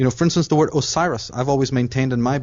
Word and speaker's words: Osiris: what you're talking about if you spell the word Osiris it's o s i r i s h but in Egyptian it's not spelled like that at all it's spelled as USIS a u s a r s but that again is a corruption it's not uses it's osari H Osiris is really osari right a right that's